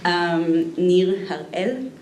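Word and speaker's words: Nir Eyal: Nir Harel is the way to pronounce it.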